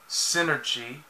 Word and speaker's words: Synergy: was created by her late father which is pronounced synergy there you go which looks exactly like like